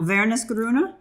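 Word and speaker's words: Wernesgrüner: So W's in German would be like a V, right? Yeah. Vernisgrüne.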